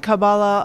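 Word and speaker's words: Kabbalah: off by telling me how do I pronounce cabala as a cabala or cabala cabala no cabala it is cabala okay yeah thank you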